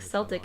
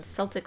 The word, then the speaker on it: Celtic: okay this is that Celtic has a soft see like Celtic in Celtic Football Club and a hard see like Celtic elsewhere I wondered about the discrepancy but didn't figure out till later celtic pronounce celtic is an outlier in english phonology okay maybe that's why